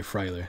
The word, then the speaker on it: Fryler: Like, the E is silent. Okay, Fryler.